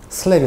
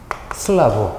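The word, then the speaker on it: slab: 바닥이 받아주는데 바닥을 영어로 슬랩이 합니다 뭐라고요 슬랩 왜 그러냐면 간혹 출제하신 분이 슬랩 또는 슬라라 표현을 해요 그러니까 여러분이 우리가 발음하기에 따라 어떤 분은 슬라브 어떤 분은 슬랩이 하기 때문에 일단 바닥이 랩이라는 걸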